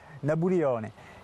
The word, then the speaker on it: Napoléon: Napoléon, pas dû l'entendre très souvent, et lui le prononce façon insulaire, Nabulione.